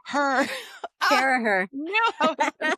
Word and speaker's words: Carragher: We're back with another amazing episode, and this week we have Carragher, who did I pronounce that right? Carragher. Carragher.